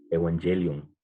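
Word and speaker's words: εὐαγγέλιον: En el griego significa, o perdón, se pronuncia algo similar, ¿no? Evangelio, evangelion. No diferencia mucho con el español.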